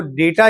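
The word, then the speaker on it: data: ये आपको डेटा याद रखना होगा। जैसे डेटा कुछ लोग डाटा भी पढ़ते हैं।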